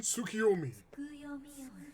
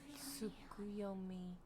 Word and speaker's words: Tsukuyomi: Rumors of the Demon Tsukiyomi. Tsukuyomi. Oh, okay. Been pronouncing it wrong.